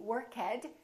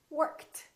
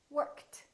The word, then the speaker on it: worked: that's a voiceless sound so the past tense of work is not going to be workhead it's going to be T worked worked let's practice a few